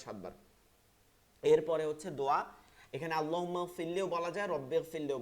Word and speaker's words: আল্লাহ: এরপর হচ্ছে যেমন আমরা যদি যাই, সামি আল্লাহু লিমান হামিদা, হামিদা না কিন্তু হামিদা, হামদুন প্রশংসা, হামিদা, সামি আল্লাহু লিমান হামিদা, সামি আল্লাহ, আল্লাহ শব্দটা মোটা করতে হবে, সামি আল্লাহু লিমান হামিদা।